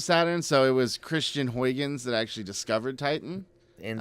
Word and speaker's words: Huygens: the cassini-huygens mission and that's Huygens hu igen Huygens cuz apparently that's the best we can pronounce it since we're not Dutch yeah and we can't